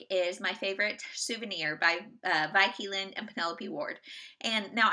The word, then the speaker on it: Vi Keeland: And she said, I say it's Vi like Vi. And so Vi Keeland it is.